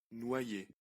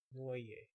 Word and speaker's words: Noye: Noyer. Noye. Noye. Noyer. Okay. Noye. You kind of treat... I'll just think of the O as a U. Noye.